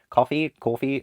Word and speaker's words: Ko-fi: Like I didn't even mention my, I think it's pronounced coffee link.